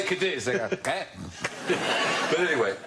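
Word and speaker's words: Cádiz: Cadiz is pronounced Cardiff, by the way. Cadiz. If you say Cardiff, you're much closer Cardiff. to the way the Spanish say it, as I've found out.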